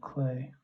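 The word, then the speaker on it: Klee: uh like picasso or paul clay spelled spelled like clee that was another guy i was a fan of paul clay k-l-e-e yeah very cubist looking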